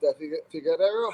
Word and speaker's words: Figueiredo: But I do feel that Figueiredo, how would you pronounce his name again?